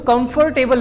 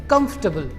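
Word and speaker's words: comfortable: और जो टी के बाद में ए आ रहा है वो अ साउंड प्रोड्यूस कर रहा है, ए साउंड प्रोड्यूस नहीं कर रहा है। तो उसको कंफर्टेबल नहीं पढ़ेंगे, उसको पढ़ेंगे कंफर्टेबल।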